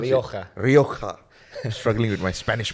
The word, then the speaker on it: Rioja: Is that how you pronounce Rioja. it? Rioja.